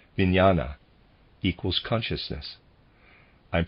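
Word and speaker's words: vijnana: new Earth's life this third force is called vinyana equals consciousness I'm pronouncing it viniana reader's aside it is spelled v-i-j-n-a-n-a and the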